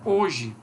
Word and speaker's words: hoje: Porque, por exemplo, na sílaba na escrita aqui, HO, nós temos dois grafos, duas letras para um único som, que só se pronuncia o O.